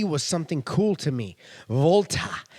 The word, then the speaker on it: Walter: and not only that the W pronounced as a v was something cool to me Volta not Walter oh it's Volta it's